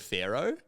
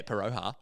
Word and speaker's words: Pharaoh: to always say, yeah, Paroha. bad. And so I remember some kid pulls me up and he goes, mate, that's not how you say it. Yeah, mate, it's Paroha. Like, no, it's Pharaoh.